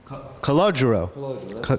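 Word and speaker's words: Calogero: and then Chaz but your original name is cogo is that how you pronounce Ito cogoo that's the way you pronounce cogo what an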